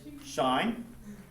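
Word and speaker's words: sinh: you call shine shine so in terms of pronunciation you can say hyperbolic cos hyperbolic s hyperbolic tan that's okay but for short the nicknames k so it's Shin but we say shine because the shine function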